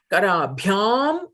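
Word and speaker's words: करभ्याम्: Guruhu Savitaram Karabhyam Namati. Karabhyam Namati. The yam is dirgha.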